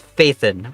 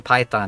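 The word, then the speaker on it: Phaethon: It is a reference to the coding language Python. But then in the English one it's Fathan which is like a mythical I think Greek being.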